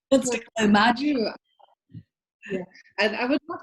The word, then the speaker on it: Mari: Mari's is the hardest. It's Margie.